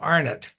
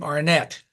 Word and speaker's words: Arnett: here's the thing we're we're Canadian and so will is when will was growing up like me he pronounced his name arnet when he moved the states and became Arnette uh we tend to say arnet and then Americans tend to say as a matter